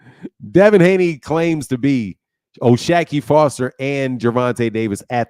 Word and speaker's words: O'Shaquie: His name is not Shaki, it's O'Shaquie.